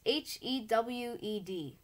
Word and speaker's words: hewed: in my tomb and i hood or heed let me ask how to pronounce that hey google how do you pronounce h-e-w-e-d that's pronounced hewed i hewed mice out